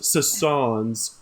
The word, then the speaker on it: Susans: It's got a little pronounced thing on it's pronounced Sassans, but it's spelled Susans. But you may refer to him as Sassans.